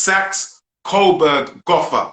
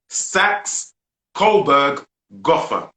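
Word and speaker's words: Saxe-Coburg-Gotha: to make a correction i have to make a pronunciation correction as my brother gary just is sacks coburg gotha that's the original name of the royal family not windsors sax kohlberg gotha yeah that's the pronunciation by the way you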